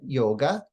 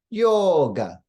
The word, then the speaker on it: yoga: to the difference or in the word yoga the O is long we don't say it like westerns westerners say it yoga but we say yoga the long vowels in